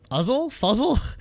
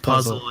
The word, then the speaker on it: Fuzzle: Is this Fuzzle? It's pronounced puzzle in Korean anyway. Okay. Puzzle. They don't have an F sound.